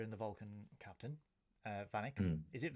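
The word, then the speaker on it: Vanik: uh vanck is it vanic vanck yeah vanck van I wrote it down as vanck because after the first time it gets pronounced it's like banck but then Archer from then on says vanck so I'm we normally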